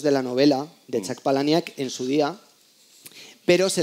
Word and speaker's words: Palahniuk: Perdón, la novela de Chuck Palahniuk, que es como se pronuncia.